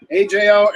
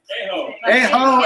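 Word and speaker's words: Ajo: have never heard of I don't know how to say it AJ Arizona a AO Arizona thank you Kathy we appreciate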